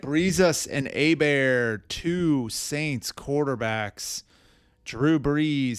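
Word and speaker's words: Hebert: It is Bobby Abear. And that is why he is called a Bear. It is not A Bear. It is not Heert. It is a bear.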